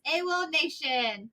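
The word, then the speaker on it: AWOLNATION: I don't know how to say it. I think it's AWOL Nation. Oh, you nailed it.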